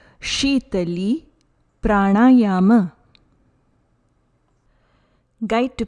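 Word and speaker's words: Śītalī: Please note, the pronunciation is not Sitali Pranayama. Correct pronunciation is Shitali Pranayama. Shitali Pranayama.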